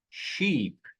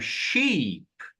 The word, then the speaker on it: sheep: Repara, se eu tiver a palavra, a palavra ovelha em inglês, ela é falada assim, ó, sheep. Se eu tiver a palavra navio, ela é falada assim, ó, chup. Então, repete, professor. Do mesmo jeito que tá aqui embaixo aqui. Repara, ó, do mesmo jeito. Duas letra S juntas fazem o som de uma letra I longa. Então eu falo sheep.